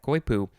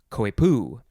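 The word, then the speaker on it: coypu: episode is koipu yeah koipu or you can pronounce it koipu emphasize either syllable p c-o-y-p-u noun from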